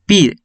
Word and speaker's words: PIRE: Ahora, la PIRE se puede pronunciar como ERIP, a lo inverso, sería APIR. Esa sigla está en inglés, pero mayormente se pronuncia como PIRE.